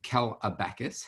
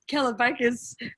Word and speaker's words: Kalabakas: here with me and this is uh cal abacus how are you i love that bacchus yeah i don't pronounce that right how do you say that it's keller vegas but it's nice listening to someone trying to